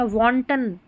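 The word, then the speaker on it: wanton: वहां पर ए को लॉन्ग ओ पढ़ रहे हैं। वांटन उच्च श्रंखला वांटन यह है स्क्वाड।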